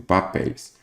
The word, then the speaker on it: papéis: Então, vamos pegar aqui, por exemplo, papéis. Papéis. Qual que é a sílaba tônica? É a última. Então, quer dizer que ela é uma oxítona.